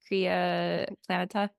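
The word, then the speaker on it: Crea Planeta: PL planeta is that how you say it Kaa planeta K planeta it's indeed this and volunteer base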